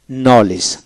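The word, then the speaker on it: knowledge: যেমন নলেজ, নলেজ, কেন ডব্লিউ এল ই জি নলেজ, ডি উচ্চারিত হবে না।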